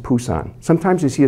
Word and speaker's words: Busan: of books you'll see it's spelled the bee b-u-s-a-n it's actually pronounced Busan sometimes you see a spell p-u-s-a-n the proper